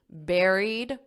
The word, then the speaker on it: buried: it out loud were buried like a strawberry buried Rivers among those features were